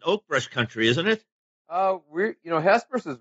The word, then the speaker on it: Hesperus: It's Hesperus. Is that how you say it? Yep, you nailed it. Hesperus, Colorado.